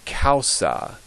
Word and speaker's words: causa: And the AU is always pronounced ow, like you've been hurt, ow. So if we look at this first word, which means, as you could probably take a guess, it means cause or reason for something, it's pronounced causa.